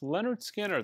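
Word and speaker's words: Lynyrd Skynyrd: From my top 100 imprint analog records you should own list, this is Leonard Skinner. It's pronounced Leonard Skinner.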